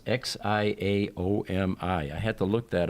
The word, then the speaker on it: Xiaomi: This is a Xiaomi brand, and that's how you pronounce Xiaomi.